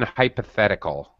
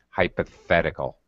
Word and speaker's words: hypothetical: okay, and pronunciation hypothetical. Hypothetical, it's the voiceless th. Hypothetical situation.